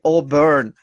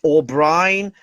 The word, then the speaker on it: O'Byrne: see you here and i hope i pronounced your surname correctly auburn yeah perfect perfect okay wonderful it's great i'm happy to do that all right because uh i think as you mentioned sometimes people i think pronounce uh wrong your surname like o'brien or something like this but okay it's good